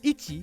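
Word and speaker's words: 一: 100 yaku in Japanese the Japanese for one is itchy itchy sounds like the word itchy whoa that's all of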